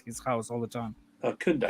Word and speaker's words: Koundé: Koundé. Koundé. Kunde, yeah.